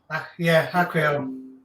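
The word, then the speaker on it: Aquael: However, I was playing around with a couple of hang-on back filters yesterday, and the Aquil, is that how you pronounce it? Yeah. Aquil.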